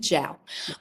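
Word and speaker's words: Zhao: Uh, Chloe Zho, I think. Ziao. Jiao. She pronounces it Jiao.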